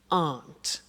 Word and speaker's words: aren't: they aren't cheap so the difficulty here is the pronunciation of our not which is Aunt okay art good so